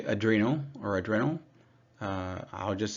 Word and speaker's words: adrenal: too low adreno glands I pronounce it like this on purpose to stress that they sit on top of the Reno GL uh organs right the Reno refers to your kidneys so people say adrenal or adrenal uh I'll